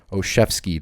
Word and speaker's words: Olszewski: If it's a soft squat or cloud flat, you just check it down to Gunnar Olszewski. That's how you pronounce his name.